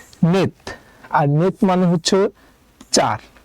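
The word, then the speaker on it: 넷: কাকার দিলাম নিচে আছে সিউট সিউট নিচে বসলে উচ্চারণ হবে তাই আমরা একটা ত নিলাম তাহলে উচ্চারণ হবে নেত আর নেত মানে হচ্ছে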